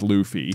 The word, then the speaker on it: Luffy: Not even realizing that Goofy rhymes with Luffy.